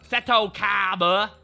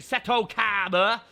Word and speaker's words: Seto Kaiba: Seto Kaiba. That is correct pronunciation. Seto Kaiba.